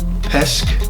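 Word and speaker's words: Petsch: a movie now it starts Samantha Logan Madeline Pesche that's how you say her name and Katherine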